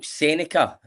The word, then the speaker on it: Seneca: So Seneca, have I said it right?